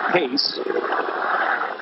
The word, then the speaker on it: Reis: minute against Eduardo case and that is the pronunciation the Portuguese speaking Brazilian it is pace as we come to